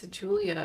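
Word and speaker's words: Giulia: don't remember any other name but Mar it's Julia you have to remember Julia they say that 100 times gulia Julia I like her name it's spelled with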